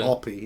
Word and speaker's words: Happy: comes into it is it's spell happy but they pronounce it rp don't they hoppy in the in the film lots of strange things